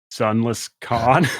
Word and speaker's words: Sunlesskhan: i have to be like it's uh it's sunless con and they're like they're gonna type and they're